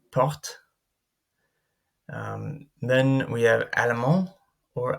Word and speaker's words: porte: If a word ends in an unaccented e or in es, the preceding consonant is always pronounced, but the e or the es remains silent. So here we have porte.